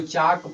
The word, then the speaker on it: chalk: तो जब एल के तुरंत बाद के आए तो उस स्थिति में एल का उच्चारण नहीं किया जाता है, अर्थात एल साइलेंट हो जाता है। तो ये CHALK को क्या पढ़ा जाएगा, चाक पढ़ा जाएगा।